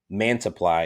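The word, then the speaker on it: Manaea: him in joe um matt's apply i or yeah man supply is how you say it and these are guys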